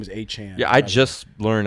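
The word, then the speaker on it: Achane: like h a Chan freaking his name is a Chan yeah I just learned how to pronounce his name yeah because well he's Adam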